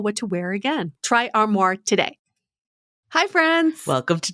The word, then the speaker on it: Armoire: Style datatable that is armoire. style that's spelled a r m o i r e.